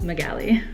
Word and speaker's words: Magali: lot of people aren't it is pronounced mughelli if you say it wrong I probably will not correct you just because I get it it's all good but it is pronounced Magali say it with me Magali the next question is